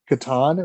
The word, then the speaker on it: Catan: i had no clue it's actually pronounced katan if i'm correct um i was correct but um 2018 we